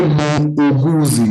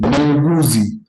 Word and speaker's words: muuguzi: Yes, let me break it down for you. It is gu, then z. So you say muuguzi, muuguzi, muuguzi.